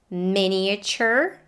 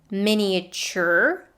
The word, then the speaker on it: miniature: are prestigious and prestigious this word has three possible pronunciations miniature miniature and miniature miniature however is the most common a friend of mine